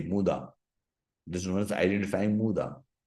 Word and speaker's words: muda: we call Waste as muda m u d a muda this know as identifying muda pronounced as muda written as muda but you know I will go with the Japanese pronunciation muda motion any necessary